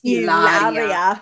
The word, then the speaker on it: Hilaria: say Hilaria Baldwin, and I was gonna have to correct you and be like, it's Hilaria.